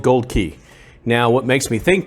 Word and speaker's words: Aukey: does say a-u-k-e-y and i've heard a couple people pronounce it aki or aukey or something like that but what the big hint that for me is au is the symbol for gold on the periodic chart if you'll remember back